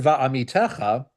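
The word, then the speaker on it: בַאֲמִתֶּךָ: Now, the word Va'amitecha is spelled with a Hebrew letter vet. However, vet makes the same sound as a vav.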